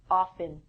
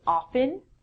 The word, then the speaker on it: often: Um, in North America, people would say often. I'm inclined to say often. It's your choice from this lesson. If you want to say often, the T is silent.